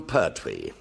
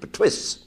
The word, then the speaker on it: Pertwee: They couldn't pronounce it, so the illiterate English pronounced it Pertwee.